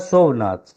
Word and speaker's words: शोभनाथ: इसमें जो मूल पुरुष है माय लॉर्ड, वो है शोभनाथ। इनके 2 लड़के थे, शोभनाथ माय लॉर्ड। हैं? शोभनाथ शोभ। जी। स्पेलिंग बोलो अंग्रेजी में। SHOBHNATH। शोभ। जी। शोभा वाला शोभ। जी जी SHOBH।